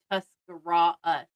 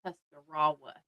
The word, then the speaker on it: Tuscarawas: Oh, I pronounced the W. Apparently, it's Tuscarawas, not Tuscarawas.